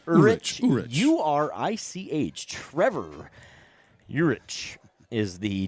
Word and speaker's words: Urich: You're the last name pronunciator. I'm going to go Urich. Urich.